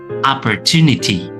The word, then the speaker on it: opportunity: Jadi huruf O di sini berubah ya suaranya menjadi A.